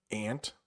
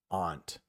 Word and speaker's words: aunt: You might see or hear it ant like the bug. Or you might hear it aunt, which where I live in New England, that's how most people will say it.